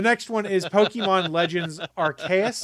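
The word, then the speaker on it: Arceus: one is pokemon legends archaic i believe is how you say it it is an open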